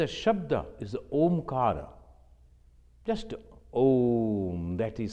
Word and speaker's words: Om: A, U, Ma. Mostly we pronounce Om. No, it is not O, it is A. A, U, Ma. Om, like this. So A, then O, then Ma.